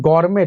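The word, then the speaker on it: gourmet: इसको बोलते हैं गौरमे, टी साइलेंट है।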